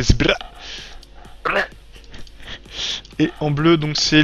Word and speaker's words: Zbrrrah: Tu peux pas le prononcer normalement, c'est Sbra.